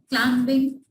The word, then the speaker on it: climbing: Number 4, he is climbing the mountain. Here B is silent. Climbing. Okay? So the B is silent over here.